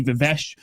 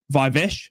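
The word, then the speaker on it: Viveash: Adi Vesh or Adi Vive I have been told to pronounce. I do apologize. I've been butchering his name.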